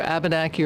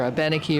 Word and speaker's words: Abenaki: Wabanakiak is the original term that then is pronounced either Abenaki or Abenaki or Abenaki. There are many pronunciations.